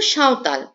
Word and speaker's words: সাঁওতাল: Number 5 and the last number, সাঁওতাল বা সান্তাল যেভাবে লেখে বাট উচ্চারণ হলো সাঁওতাল।